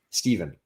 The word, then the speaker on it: Stephen: death of doctors stephen but it's pronounced steven you can spell it with a ph or with a v it says oh yeah and